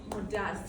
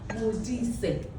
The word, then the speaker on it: Modise: Like, I usually get Modise. I'm like, no, take your time, say it slowly. Modise.